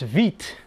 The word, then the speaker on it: Witte: This time I have a WITTE, which I believe is pronounced Vite.